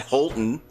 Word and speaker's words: Halton: said Holton.